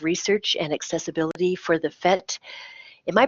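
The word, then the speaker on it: PhET: is director of research and accessibility for the fet am I pronouncing that correctly Emily yes yes oh great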